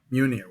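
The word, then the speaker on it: Mjölnir: well, I would say, because of the historical, value of that, the what's the pronunciation of the hammer? Mjolnir. Munir.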